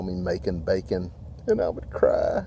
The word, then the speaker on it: Macon: My name is Macon. I know. Macon rhymes with bacon.